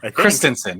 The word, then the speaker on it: Christensen: Yeah, I think you just mispronounced his name. That's why. What is it? Sorry. Is it? How do you say it? Christensen. Christensen. What did I say? It's Christensen.